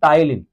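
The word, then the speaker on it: ptyalin: टाइलिन, P silent है। पर अंग्रेज भी जो है ना वो इंग्लिश में कभी ना कभी बस ऐसे फनी लैंग्वेज है, भाई एक नाम लिखो उसमें जो है ना वो साइलेंट कर दो। नॉलेज में के साइलेंट कर दो, नमूनिया में पी साइलेंट कर दो, इसी तरीके से टाइलिन में पी साइलेंट है पहला।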